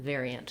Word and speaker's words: variant: So variant, again, first syllable stress, so kind of, again, build from air, ver, and then this letter I does have the E sound, very. So it is like the word very with the E.